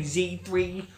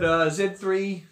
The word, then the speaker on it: Z3: But I think the design of the Z3, I know some Americans say Z3, but Z3, there we go, right there.